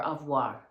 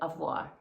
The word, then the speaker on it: au revoir: So, that's why you see the title says Avoa, but um or avoir. That's how you say it. Avoir.